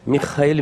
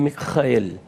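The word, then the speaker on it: מיכאל: O nome, na verdade, ele vem do hebraico Michael, e tanto no grego quanto no hebraico a pronúncia é justamente esta, Michael, Michael.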